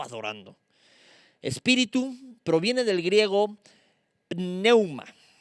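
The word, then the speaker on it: πνεῦμα: espíritu proviene del griego neuman neuman con acento en la pn significa corriente de aire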